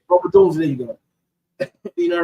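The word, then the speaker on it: Rome Odunze: The young kid they drafted, I don't want to mispronounce his name. Roma Dunzier. Roma Dunzier, there you go.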